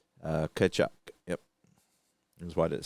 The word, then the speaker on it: Tkachuk: I think that T was silent. Tkachuk.